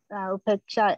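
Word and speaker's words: upekṣā: It's upeka in Pali and upeksha in Sanskrit. Upeksha? Upeksha in Sanskrit, but upeka in Pali. It's pronounced just right.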